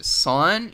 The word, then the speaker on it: sine: So the first ratio we're going to be talking about is called the sine ratio. Well, it says sin on there, but it is pronounced sine.